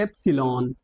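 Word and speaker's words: epsilon: symbol ये Greek word है इसे कहते हैं एप्सलोन क्या बोलते हैं एप्सलॉन ठीक है ई पी एस आई एल ओ एन इसकी स्पेलिंग होती है इसे पढ़ते हैं एप्सलोलॉन ठीक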